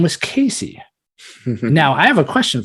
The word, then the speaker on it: Kaycee: Like I saw Casey because it's spelled Kaycee.